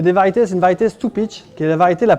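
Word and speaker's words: Stupice: Variété de tomate Stupich. Ça s'écrit Stupis.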